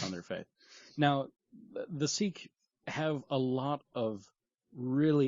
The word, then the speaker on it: Sikh: religious token because the Sikh people, I don't know why it's pronounced that way when it's spelled S-I-K-H, but it's because it's a foreign language.